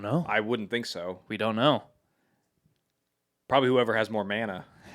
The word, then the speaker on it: mana: Probably whoever has more mana. It's pronounced mana. Sorry, mana.